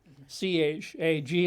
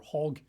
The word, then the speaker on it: chag: C-H-A-G, it looks like chag, but I think they would pronounce it more like hag or hog.